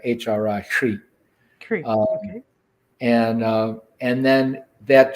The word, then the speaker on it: Hri: And then the syllable is Hri, like HRI, Hri.